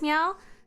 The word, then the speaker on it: Miao: because my name is Meow. So my name is written like this. This is Meow. And uh fourth tone and then is written like this.